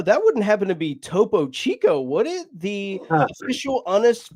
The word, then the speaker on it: Topo Chico: Oh, that wouldn't happen to be Topo Chico, would it? The official honest fish. Oh So that's how you pronounce it. I thought it was Tapo Taco.